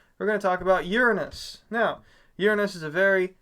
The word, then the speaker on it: Uranus: And so that's why when you pronounce it Uranus, because it's named after the Greek god Uranus, which has basically the same name sound to it.